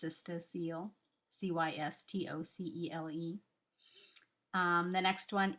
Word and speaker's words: cystocele: that is cystocele I just learned how to pronounce that word all these years I've been saying it in my mind as cystosoly it's cystocele c-y-s-t-o-c-e-l-e um the next one is constipation hemorrhoids